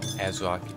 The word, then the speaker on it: ASRock: Azrock is apparently, and I hope I pronounced it correctly, as Azrock, and it's not something else. Like AS-Rock, I don't know, Azrock, I'm gonna keep saying it.